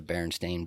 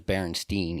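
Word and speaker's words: Berenstain: Mandela effect is the baron stain Bears yeah so many people swear it was Baron Stein EI n instead of Baron stain a n I think that comes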